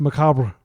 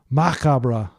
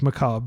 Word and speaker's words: macabre: By the way, I'm using the French pronunciation. I don't want you to think I'm an idiot or something like that. It is pronounced Macabre. Macabre in French. Pardon my mediocre French. I just want to acknowledge that I know everybody in the United States says Macabre because it's like this